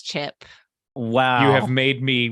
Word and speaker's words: Chip: And lastly, but not leastly, his name rhymes with flip. It's Chip.